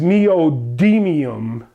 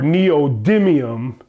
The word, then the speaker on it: neodymium: On a scale of 1 to 25, the rare earth style magnet known as neodymium or neodymium, you pronounce it as you please, is one of the most powerful magnets commercially available.